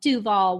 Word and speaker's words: Duvall: super small town called Duvall Washington oh yeah from Woodinville yeah it is Duvall accent on the do not Duvall no because